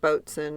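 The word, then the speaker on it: boatswain: he said well yeah it's like bsen and coxen and for some reason that word is just pronounced that way he says he thinks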